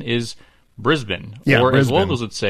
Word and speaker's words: Brisbane: Anyway, the correct pronunciation is Brisbane.